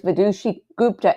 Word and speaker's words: Vidushi Gupta: A lot of, oh, I am saying it right. It is Vidushi Gupta, and I'm pronouncing it right.